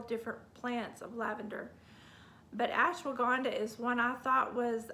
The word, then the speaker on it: ashwagandha: must-have okay all right ashwagandha and that's a-s-h-w-a-g-a-n-d-h-a the h is silent at the end but ashwagandha is known